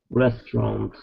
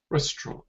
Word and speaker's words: restaurant: Restaurant. Restaurant. No, actually the T is pronounced.